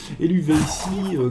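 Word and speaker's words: Eluveitie: un œil sur, par exemple, un groupe comme Eluvici qui est chouette. aussi. Qu'est-ce qu'il dit? Qui s'écrit E-L-U-V-E-I-T-I-E.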